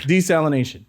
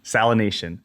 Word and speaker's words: desalination: So I think like the salination, how do you pronounce that word? Desalination. Desalination. Desalination, yes.